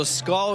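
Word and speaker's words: skål: Yeah, so SCAL is spelled S-K-A-L. It is Scandinavian for cheers.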